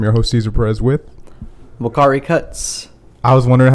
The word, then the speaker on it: Uakari: host Cesar Perez with lokari Cuts I was wondering how to pronounce it right yeah yeah the U is a uh pronounced as a w that's amazing hell yeah